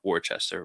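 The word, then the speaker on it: Worcester: Well, I actually grew up near, you know, Warchester, right? That's how you say it." Because I always freaking I always mess it up.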